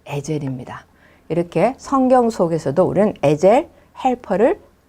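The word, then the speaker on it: עֵזֶר: 돕는 배필로 보내 주셨습니다.이 돕는 배필이란 말은 히브리어로 얘기하면 에젤, 에젤 그런 뜻입니다. 그런 발음입니다.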